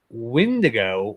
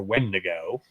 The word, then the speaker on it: wendigo: going to break down what the windigo or wendigo there's actually two different ways of pronouncing there's actually several different